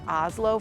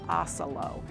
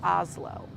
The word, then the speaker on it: Oslo: with the Oslo theater this is pronounced more like Oslo from Norway not as it's written with oelo so the pronunciation of that is Oslo next on the list